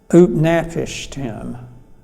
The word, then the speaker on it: Utnapishtim: And his name is Utnapishtim. Shall I spell it for you?